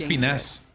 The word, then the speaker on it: Espinas: Espinas. Con acento en la A.